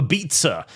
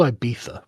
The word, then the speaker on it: Ibiza: ability to go to Ibiza every year. It's called Ibiza, but yes. Ibiza. Ibiza. There's no way it's called Ibiza. I'm not joking. That's how the Spanish pronounce it.